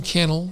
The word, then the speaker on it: Cannell: Sean Cannell rhymes with YouTube channel.